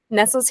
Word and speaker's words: Nesas: You are the founder and CEO of, is it Nesas? How do you say that? I want to pronounce it. Nesas Hemp is the right way of pronouncing. Yeah, with one S.